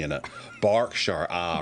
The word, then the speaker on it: Berkshire: No, it's not Bure because it's got an E in it. Barkshshire. Ah, right. Okay. It's got it's got an E, so it's pronounced Bark.